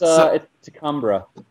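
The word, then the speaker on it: T'Kumbra: It's Tcumbra. Tumbra. Okay. Which is, by the way, not like spelled like a like a uh native Native American name would be. It's a Vulcan name.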